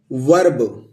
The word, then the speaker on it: verb: क्या प्रोनाउंस करेंगे अ, तो क्या हो गया वर्ब। इसको ई को क्या प्रोनाउंस किया अर्ब, तो व लिख दिया और